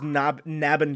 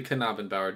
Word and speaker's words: Knabenbauer: I would have thought it was Knabenbauer. Yeah, a lot of people would, but it's actually Knabenbauer, just like it's Knife and Kano.